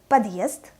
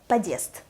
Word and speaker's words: подъезд: The word подъезд, подъезд, without hard sign would be подъезд, подъезд, подъезд. Do you hear the difference?